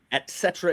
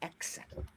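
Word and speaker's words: et cetera: Etc. is correct. It is not etc. It is etc.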